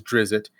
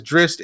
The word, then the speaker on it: Drizzt: Like when people first got the books, we all thought his name was Drizzt. His name is Drizzt, and inside the book,